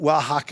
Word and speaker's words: Wahaca: I mean, there isn't even a W in Spanish, okay? They spell it like that because it's phonetic. It's actually spelled with an X in Mexican Spanish.